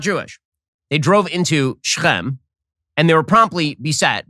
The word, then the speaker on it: Shechem: Okay, Shechem, or Shechem, as it's pronounced in English, is now an Arab city.